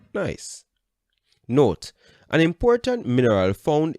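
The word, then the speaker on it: gneiss: changes into quartzite and granite changes into nice pronounced nice note an important mineral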